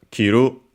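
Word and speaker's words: 着る: Then we have kiru unacented unlike the other ones which were accented to wear from the shoulders down.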